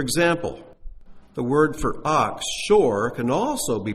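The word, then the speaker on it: שור: refer to these as the ox Ox is pronounced Shore there it is in Hebrew and its pronunciation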